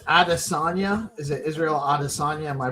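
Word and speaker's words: Israel Adesanya: Is it Israel Adosa? Am I pronouncing that right? Israel Adisagna.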